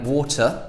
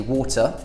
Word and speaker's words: water: in the British accent we either pronounce the T like water that's how I would say it personally water or you just don't pronounce it at all what now the third